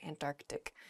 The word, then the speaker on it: Antarctic: the south is the Antarctic there's sort of like almost a hiccup in the word there Antarctic oh uh in a